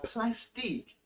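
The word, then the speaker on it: Plastiq: be paying through plastic plastic and that's how it's spelled p-l-a-s-t-i-q now plastic will enable you to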